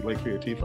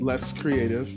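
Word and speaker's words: Les Créatif: So it's LESCREATIF. You can search that on Spotify, whatever, social media, and all of that. So not less creative, because we get that at every show we've performed.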